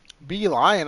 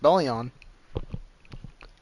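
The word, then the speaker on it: Belion: Be lion and the others are watching him. Be lion. I thought it was going to be pronounced Belleon. Call him Bellon.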